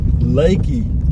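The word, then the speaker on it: Leakey: of bracketville headed toward lakey texas that's how it's pronounced but it's spelled l-e-a-k-e-y but we're just out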